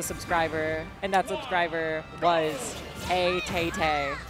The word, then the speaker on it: ATAT: The Buzz did just lose a subscriber, and that subscriber was ATATA. That's not how you pronounce it. That's nothing. If a tat is feeling a little sassy, then ATATA is perfect.